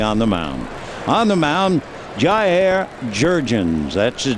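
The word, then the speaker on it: Jurrjens: His first name is spelled J-A-I-R, and you pronounce it Jair, and then Jurgens, Jurrrgens, so you can understand the JJ.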